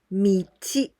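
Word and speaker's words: 道: We pronounce michi, and the meaning is the street, and also like the path.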